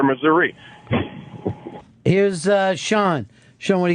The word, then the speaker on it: Missouri: There's this battle been going on forever. Can't stand it. It's Missouri. Now, what do locals say though? Oh, it's a good half and half. A lot of the Ozark locals are like Missouri, and more of the city ones are Missouri.